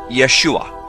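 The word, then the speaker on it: ישוע: the name of Jesus Jesus's name is pronounced Yeshua in the Hebrew his name is formulated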